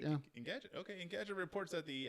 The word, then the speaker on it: Engadget: How do you pronounce it? Engadget? Engadget, yeah. Engadget.